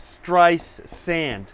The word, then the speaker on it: Streisand: nice sand there's no there's no tea so it's try no tea in the middle T at the beginning it's stress sand okay I think I'm